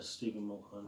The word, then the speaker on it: Stephen Mulhern: And then we looked at Stephen Mulhern. Is that how you say it? Yeah, Stephen Mulhern.